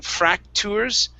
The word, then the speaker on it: fractures: Instead of saying fractures with the T, it's churs.